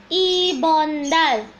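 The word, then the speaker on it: 이번 달: Bahasa Korea dari bulan ini adalah ibondal. Ibondal. Ibondal. 한번도 ibondal. Ibondal. Nah, 어떻게 cara menulis ibondal yang benar? Perhatikan ya, Rabun. I, piep, o. Ini eo ya. Jadi dibacanya o, tapi tulisannya eo.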